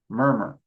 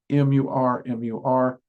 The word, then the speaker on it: Murmur: That's been something I've just constantly done throughout the series, which is M-U-R, M-U-R. And the most common pronunciation I've heard is murmur, so that's the one I'm going with, okay?